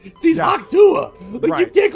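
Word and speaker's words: Hawk Tuah: the Haka girl sucks he said hak Haka Haka hwa I guess that's a French version of her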